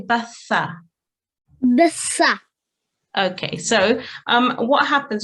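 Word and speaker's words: ث: tongue for the tha, the tip of the tongue slightly comes out of the mouth and softly touches the upper teeth, and air should escape when pronounced correctly.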